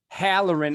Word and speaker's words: Halloran: do you say your last name that hallerin halloran of proudmouth he's a podcast expert all around